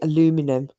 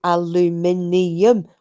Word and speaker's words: aluminium: friends in america and whenever they say aluminum and i go is that how it's spelt it's aluminium where's the bit gone was the minion min gun the min vanishes does make me